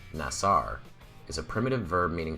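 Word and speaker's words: נָשָׂא: The Hebrew word that we pronounce as NASA, or more correctly, nasar, is a primitive verb meaning to lift up, to support, or to carry.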